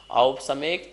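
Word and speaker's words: औपशमिक: सब में औ लगा है, इस बात का ध्यान रखेंगे। ओ नहीं है, औ है। औपसमिक, छायकौ, भावौ, मिश्रस्य, जीवस्य, स्वतत्व, मौदयिक, पारिणामिकौ च।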